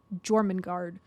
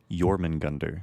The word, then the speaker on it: Jormungandr: They have Hel, they have Fenrir, and they have Jormungand, or whatever his name is. Jormungandr. It's really hard to pronounce.